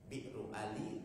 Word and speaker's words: Bir Ali: Nah, kalau dari Madinah itu Bi'r Ali, Bi'ru Ali, tapi kita bacanya Bir Ali.